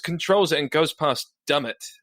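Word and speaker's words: Dummett: it and goes past dumb it I think it's pronounced dumb it which is you know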